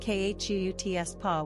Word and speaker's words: Chutzpah: Pronounced khutspa with a raspy, guttural ch.